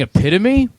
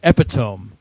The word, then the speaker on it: epitome: and years and years instead of saying epitome I said epitome cuz I thought and you know why I you know why I said epitome because it's spelled like that well no not only